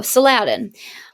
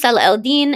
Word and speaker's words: Salah al-Din: And you might, look at his name and be like, oh, Saladin. It's pronounced Salah al-Din, and he was a very, very strong and successful Muslim general.